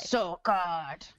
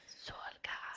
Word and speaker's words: Solgard: Solgard. Solgard. So I guard your soul, but it's spelled like the sun and not the thing inside of you.